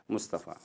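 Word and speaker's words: مصطفى: जैसे कि मिसाल के तौर पर मुस्तफ़ा, अब देखिए मुस्तफ़ा के अंदर जो लास्ट में हम प्रोनाउंस करते हैं फ़ा को अलीफ के साथ जोड़ के फ़ा कहते हैं, मुस्तफ़ा, सही है।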